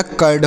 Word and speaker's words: curd: Next देखिए, CURD, तो सी से क और यू से आ हो जाएगा, आर से र लिखेंगे, डी से ड, तो यह कर्ड हो गया।